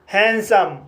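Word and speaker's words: handsome: जैसे हैंडसम हैंडसम word में पहला सिलेबल एन डी से समाप्त हुआ है और दूसरा सिलेबल कसोनेंट एस से शुरू हुआ है। इसलिए डी साइलेंट रहेगा। इसलिए इसे हैंडसम पढ़ा जाता है।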